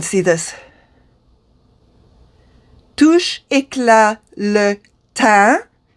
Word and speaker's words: teint: Touche Éclat le teint. You do not pronounce the T. So E-I-N is un. Just pretend the E is not there either.